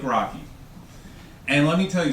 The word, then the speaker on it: Rocchi: Rocchi? Good evening, and it's true, my name is Rocchi. It's spelled R-O-C-C-H-I, but it's pronounced like Rocky.